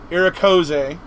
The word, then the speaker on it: Irikoze: get it right, but the way we pronounce my name on YouTube is Irikoze.